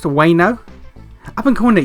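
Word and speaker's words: Ueno: that's how it's pronounced, Wano? I've been calling it you Wano all this time. I thought the U was pronounced. I always thought it was you Wano. Not Wano.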